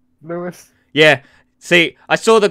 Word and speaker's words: Lewis: Hey, Ripstar, do I pronounce it Lewis or Louis? Is it Lewis? Lewis.